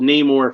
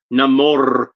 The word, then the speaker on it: Namor: been around and he's been called neyar for 86 years and then they decided to to pronounce it namore when he's finally in a liveaction movie but I don't care he's